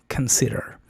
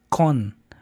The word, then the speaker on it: consider: Consider aquí es muy importante porque lleva una shua al inicio, no es con, porque lo vemos escrito como con decimos, ah, consider, consider, pero eso no está correcto. Debe de ser con shua. Ken, k, en lugar de con consider. La primer sílaba es débil, o sea, es una shaa, no una con española fuerte. Y el acento cae en s consider.